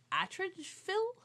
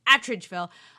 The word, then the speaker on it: Atteridgeville: takes place in the South African ghetto of Atteridgeville. Is that what it's called? Sure. Yeah, I said it right. I should have been confident. Attridgeville, which is where all of the black people were put during apartheid.